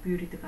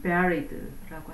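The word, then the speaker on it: buried: 자가 없느니라 파무침 뜻입니다 발음을 뷰리드가 아닌 veryd라고 한다는 것 그리고 그레이브 하면은 그레이브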